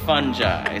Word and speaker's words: fungi: Hey, he's a real fun guy, but it's pronounced fungi.